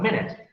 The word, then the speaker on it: minute: These two, when we talk about this word in the sense of 60 seconds, we call it minute, right?